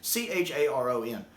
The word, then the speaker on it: Charon: I know it's Charon, but it's one of those things I never see, but I never hear.